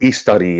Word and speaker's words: Istari: I've heard Christopher Lee pronounce it Istari enough times that it's been stuck in my head.